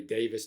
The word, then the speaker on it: Davies: Written and sung, of course, by Ray Davies or Ray Davis, depending on how you want to pronounce that.